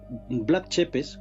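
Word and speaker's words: Vlad Țepeș: este sitio bueno pues vlad tepes es como más o menos lo pronuncian los los los rumanos fue un mante todo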